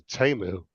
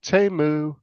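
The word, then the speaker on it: Temu: in the ads though they pronounce a teu have you noticed that they don't pronounce a teu they say t t I don't know if it's called TAMU or teu trying to make it sound more expensive in Chinese it probably would be pronounced TAMU yeah yeah because in the ad if you listen to the ad on YouTube whenever it comes on it says TAMU oh oh TAMU it doesn't say teu it says TAMU oh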